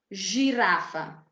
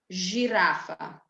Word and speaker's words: žirafa: So C, center, Č, čokolada, J, yogurt, S, sandwich, Š, šport, Z, zebra, Ž, žirafa.